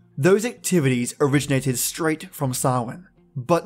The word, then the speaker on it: Samhain: Spelt S-A-M-H-A-I-N but pronounced Samhain.